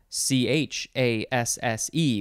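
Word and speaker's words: chassé: next we have chasse c-h-a-s-s-e with an accent on the e so you have to say chasse chasse what did i say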